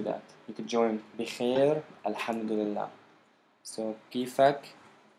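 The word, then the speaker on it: الحمد لله: So alham, the first syllable. Du, the second. And then lillah, the third. With a ha on the end.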